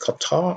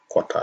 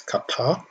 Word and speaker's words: Qatar: qatar yes it's pronounced qatar and not quite ah some people pronounce it quatermo it's not quarter it's qatar as you can see